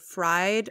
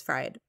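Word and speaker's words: Freyd: new acronym coined by jennifer fryde i probably mispronounced that but it's not freed i think it's fried and she founded a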